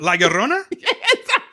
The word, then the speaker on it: La Llorona: What, La Llorona?